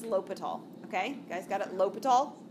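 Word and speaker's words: L'Hôpital: l'hopital's ruler rule l'hopital it is not the hospital that's what people usually look at and say the hospital it's not actually even phonetically where things are at all this is l'hopital okay guys got it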